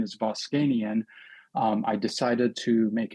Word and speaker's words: Voskanian: Uh, and partially why I went to medical school because my last name is Boscanian.